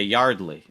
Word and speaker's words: Yardley: her Yardley her name is Yardley Smith okay Yardley uh is that how you pronounce it really yes her name is Yardley